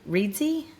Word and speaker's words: Reedsy: Did you I ended up using Reedsy.